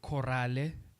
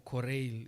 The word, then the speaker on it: choral: Some might say chorale or choral. It's choral. Choral. It's choral with an E at the end. Yeah, choral.